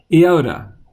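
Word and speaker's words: iota: theta and next is the I sound but in Greek is Yoda Yoda and there's the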